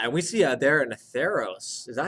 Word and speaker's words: Athreos: Yeah, and we see there an Atheros. Is that how you pronounce her name? Athreos.